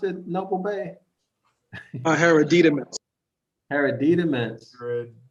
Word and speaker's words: hereditaments: Inheritance, hereditaments, or how do you pronounce it, Noble Bay? Hereditaments.